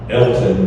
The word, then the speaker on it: Alton: in the Chicago area, guy's name is Elton, but it's spelled A-L-T-O-N, Alton.